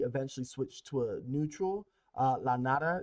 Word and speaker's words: La Nada: La Nada is what it's pronounced as or called.